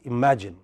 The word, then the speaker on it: imagine: imagine in a word in a word like imagine there are three syllables okay but one syllable is more prominent ma which imagine okay it can be